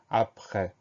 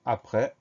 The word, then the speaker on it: après: Donc on fait attention à ce E qui s'écrit E accent grave et à cette lettre muette à la fin du mot, le S.